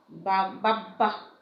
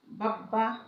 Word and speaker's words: বাব্বা: ব বা ম এর সাথে যদি ব ফলা যুক্ত হয় তবে সে ব এর উচ্চারণ অবিকৃত থাকে। যেমন দেখো বাব্বা, হ্যাঁ, বাব্বা, সাব্বাস, হ্যাঁ, এগুলো কিন্তু ব তোমার উচ্চারিত হয়, হুবহু উচ্চারিত হয়।